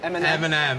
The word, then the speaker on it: Eminem: Eminem.